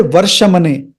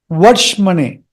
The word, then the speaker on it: वर्ष्मणे: Don't say Varshamane. It's not Varshamane. Varshmane Varshmane.